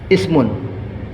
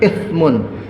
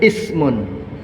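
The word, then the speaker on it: اسم: Al-asma dalam bahasa Arab itu dari kata-kata ismun, ism, ya, bukan ithmun. Jangan salah, itu juga itu bacanya itu. Membaca ithmun itu dosa itu. Bacanya ismun, isim, nama.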